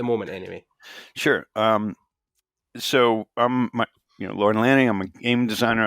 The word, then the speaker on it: Lorne: I'm like, it's Lorne. Just one syllable.